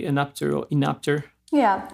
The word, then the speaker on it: Enapter: of the co-founders of anap do do I pronounce it correctly anap or inap yeah anap are you curious about the the meaning it's